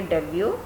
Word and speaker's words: debut: are their heroes, and when they make their debut, they go across this word again and again.